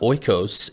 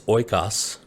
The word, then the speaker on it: Oikos: brands incorrectly for years it's not oikos it's oykas which they tell us